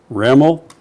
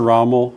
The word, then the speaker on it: Ramel: This is State Representative Ramel. Rhymes with camel. And I've been struggling with Ramel or Rommel for months, and now I know.